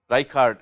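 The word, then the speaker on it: Reichardt: Essentially what Rishard's group did was he they looked at Reichard is what we often pronounce his name but I think the correct pronunciation is Rishard but I'm not good at German pronunciation anyway.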